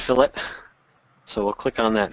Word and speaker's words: fillet: people mistakenly call it filt that's only for for Meat and Fish if we're 3D modeling it's pronounced fillet so we'll click on